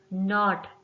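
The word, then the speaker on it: knot: में case silent है नॉट नॉट में के साइलेंट है देन हमारा नेक्स्ट वर्ड है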